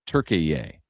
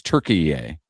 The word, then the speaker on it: Türkiye: Which somehow is pronounced now Türkiye. Have you seen it? That's how the announcers are all pronounced and it's spelled differently. But it's Türkiye.